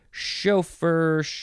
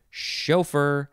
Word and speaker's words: chauffeur: next we have chauffeur chauffeur you could you can emphasize either syllable chauffeur chauffeur c-h-a-u-f-f-e-u-r first form noun